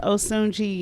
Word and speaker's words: Osunjii: hello my name is osunji and i have been doing stand-up for